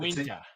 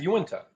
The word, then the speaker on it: Uinta: I say Uinta. No, it's Uinta.